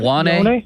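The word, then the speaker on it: Ioane: How did you pronounce the Penn State guard? Iwane?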